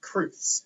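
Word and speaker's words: crwth: with letter frequency there's this word which is pronounced truths it's the plural of truth which is a Welsh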